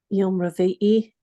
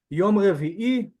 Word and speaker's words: Yom Revi'i: Yom Revi'i. Nice. Well done, man. Well done. Especially your Ayin pronunciation. Well done. Yom Revi'i, Wednesday or the fourth day, as we're learning.